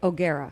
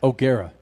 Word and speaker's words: O'Gara: Some news about her husband, and her son, 11-year-old son, Danny O'Gara. I will share that with you coming up, Freak Nation. What, Crasher? How do you say it? O'Gara. O'Gara.